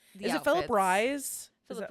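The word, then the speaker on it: Rhys: Rise? Philip Is that- Reese, I think is how you Reese.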